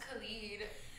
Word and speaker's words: Khalid: about R&B singers believe someone told me like two days ago they were late it's pronounced Khalid okay sorry I love